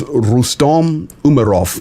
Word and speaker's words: Rustem Umerov: His name is Rustem Umerov, the new defense minister for Ukraine.